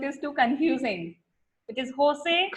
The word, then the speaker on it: Jose: Generally, we in India pronounce J as Jo. So it is Jose.